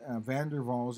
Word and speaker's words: van der Waals: Because van der Waals is a Dutch name, and Dutch is in the German language family, and W is pronounced V.